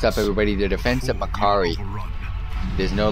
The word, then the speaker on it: Mac'Aree: The defense of Makari. It is no longer called Macaray in my book. It is Makari. Thanks, Blizzard, for adding a voiceover into this game. Now I know how to pronounce this place.